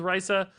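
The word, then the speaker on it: Raza: right now, too many secrets don't interact with Raisa, and that's how she's pronounced, by the way, I learned later.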